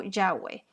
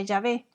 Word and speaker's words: Yahvé: Aquí se refiere a Yahvé o Yahweh, YHWH. Y en español se pronuncia Yahvé.